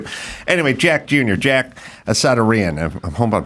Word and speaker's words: Assadourian: Anyway, Jack Jr., Jack Assadourian. I hope I'm saying that last name correctly. It's Assadourian. Assadourian.